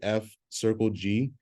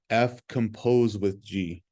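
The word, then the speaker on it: f∘g: but we don't say F Circle G it's or fog it looks like the word fog F composed with g so F composed with g is how you pronounce this so the composition of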